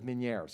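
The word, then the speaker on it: Ménière's: so you have to the pronunciation is French I was told as Meniere's I am not French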